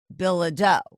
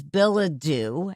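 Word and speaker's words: Bilodeau: The prosecutors told me it was Billa Doe. Okay. Uh but when I interviewed the defense attorneys, they said it is Billa Dew, and the defense attorneys say that's how he pronounces it.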